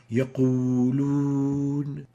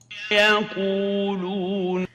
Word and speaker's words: يقولون: In the here, we exaggerate the pursing of the lips when pronouncing the wow, like يقولون. And let's compare that with a proper pronunciation as we hear it from Sheikh al-Husari. يقولون.